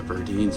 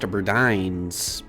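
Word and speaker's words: Burdines: I guess was a Bines before that. Um, actually, that's pronounced Berdines.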